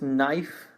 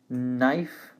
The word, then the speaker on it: knife: the next one is knife knife to forget that this is a silent k so we only say at the end knife and while knife it's